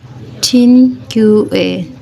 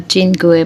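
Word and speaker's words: cinque: को कहते हैं क्वात्रो, 5 को कहते हैं चिनक्यूए, CHIN आता है यहाँ पे, चिनक्यूए, मतलब प्रोनाउंसिएशन में चिनक्यूए आता है।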